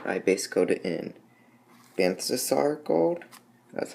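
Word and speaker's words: Balthasar Gold: For the gold, I base coat it in Banthasar gold, that's how you pronounce it.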